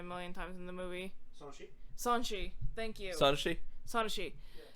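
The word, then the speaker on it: Sonoshee: I'm gonna mispronounce her name, even though I've heard it a million times in the movie. Sanshi.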